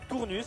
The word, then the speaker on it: Tournus: Alors, on prononce pas le s. Ah, tournue.